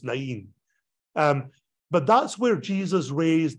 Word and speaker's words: Nain: By the way, Nain, the bus doesn't go through Nain, which I think is actually pronounced Nain.